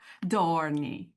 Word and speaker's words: dohrnii: Dorney.